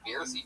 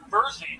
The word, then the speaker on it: Bersy: The fucking Beersy triplets. Tell us something interesting about you guys. Our name is pronounced Bersy triplets, like Jersey.